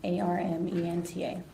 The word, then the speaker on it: Armenta: V A N E S A R M E N T A. And Mena, I I'm pronouncing that correctly.